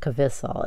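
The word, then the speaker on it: KVISSLE: These are, I think it's pronounced Kvisal. It's K-V-I-S-A-L. ISSLE.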